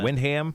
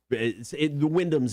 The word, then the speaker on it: Wyndham: Or Windham. How do you say it? It's Wyndham.